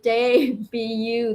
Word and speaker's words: debut: Will Fly Linda say debu? That's how you pronounce debut.